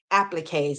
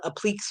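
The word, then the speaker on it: appliqué: Halloween appliques wait appliques I'm learning how to pronounce that word better appliques I've been call them aliques forever and everybody that's watching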